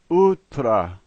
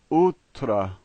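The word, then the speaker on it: утра: And the last letter is an O, and here it's pronounced in its typical way, A. So this word is utra, utra.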